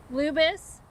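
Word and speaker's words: Lubas: That's spelled Lubis.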